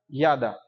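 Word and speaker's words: ידע: O verbo conhecer em hebraico significa yada. Quer pronunciar comigo yada?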